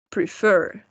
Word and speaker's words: prefer: We only double the consonant when the stress is in the last syllable. For example, refer, prefer, regret.